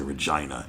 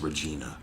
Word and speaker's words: Regina: was trying to say regina ew actually it's regina rhymes with pasadena her his leader dissolved and